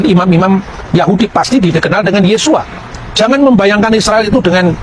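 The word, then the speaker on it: Yeshua: membaca e nama Yesus ketika dia orang Yahudi dia pasti membaca yesua yang percaya bahwa Yesus itu Mesias pasti membacanya yesua hamasiah nah yesua H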